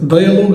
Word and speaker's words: dialogue: لفته للسلم بتاع الكلمه كلمه ديالوج هتلاقي في الاخر اليو والاي الحرفين دول مش بيتنطق اوكي طب هي محظوظه